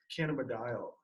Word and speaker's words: cannabidiol: Cannabidiol is how you say it.